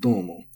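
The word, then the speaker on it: どうも: And dozo and domo are the same. They're both accented.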